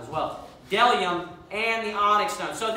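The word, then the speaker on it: bdellium: And then it says, there is delium and onyx stone. So that B is silent.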